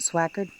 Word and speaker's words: Swickard: Well, it says Swickard, but we pronounce it Swackard.